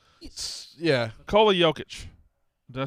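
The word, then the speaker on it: Nikola Jokić: Nikola Jokic.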